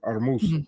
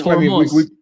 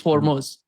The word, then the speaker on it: Hormuz: But for whatever reason that yeah, they don't for Armuz not Hormuz. Yeah. Yeah. It's Hormuz. In the Persian pronunciation is Hormuz.